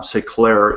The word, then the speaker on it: S'eclairer: c l a i r e r uh say Clair is a French word which means Enlighten self